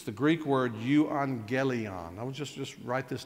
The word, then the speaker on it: euangelion: That's right, but the A and the double G has a pronunciation of an.